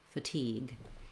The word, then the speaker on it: fatigue: the tense e sound anytime a word has second syllable stress i recommend starting and practicing on that stressed syllable then adding your unstressed first syllable for example for fatigue you would say teague fatigue that helps you get the rhythm and helps you really reduce that vowel so even though we